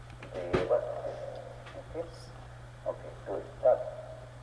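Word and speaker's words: देवस्य: One correction, in pronouncing Devasya, some of you are lengthening the va a little extra, you're making it Devasya. Please listen carefully with me. Devasya. Devasya.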